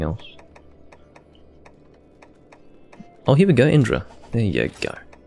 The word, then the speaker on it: Indra: Indra, specifically the Kirin Bolt Indra, or Indora, as it was called in first gen. That was their translation of it, because that's how it's said in Japanese.